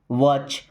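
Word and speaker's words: watch: अब देखिए यहां पे टी साइलेंट। वॉच।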